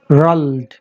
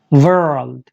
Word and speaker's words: world: यस, आप इसको दो वर्ड समझें, वर्ल्ड। आर साउंड सही कर लें, इसके बाद आप इसको बहुत अच्छे से प्रोनाउंस कर पाएंगे।